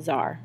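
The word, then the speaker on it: czar: declare himself AAR um I know you want to pronunciate the C but you don't do that so you just say the Z is a zar okay which is um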